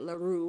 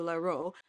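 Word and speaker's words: Leroux: I think that's how you say it. Laru or Laro.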